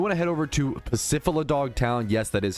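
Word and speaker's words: Pacifidlog: You want to head over to Pacifidog Town.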